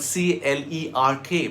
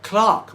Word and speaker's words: clerk: It's like the word C-L-E-R-K, pronounced clerk by the British but clerk by Americans.